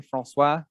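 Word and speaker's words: François: let us go to francois all right francois welcome to the program thank you by the way did i pronounce it correctly francois yes okay yes i don't pronounce the yes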